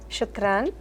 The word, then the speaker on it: شكرا: شكرا Shukran.